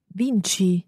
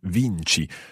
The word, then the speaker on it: vinci: Vinci. Vinci. So the CI there gives us the ch sound.